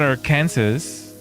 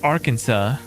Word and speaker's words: Arkansas: I think the reason why they say Arkansas is because it has like some French background, right? It's not our Kansas. It's Arkansas.